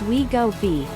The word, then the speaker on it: Wegovy: depression and pancreas inflammation wegovi pronounced we go b is a synthesized version